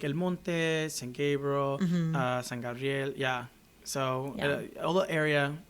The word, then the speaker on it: San Gabriel: Gabriel, uh San Gabrielle. Yeah. So all the area. Well, St. Gabriel is San Gabriel, right? Right. Right. San is how you say it in Spanish.